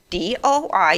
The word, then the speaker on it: DOI: ...a doi cause it says d-o-i in it, and that spells DOI!!!!